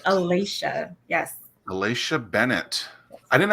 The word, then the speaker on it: Alasha: You did pronounce that properly. It is Alasha.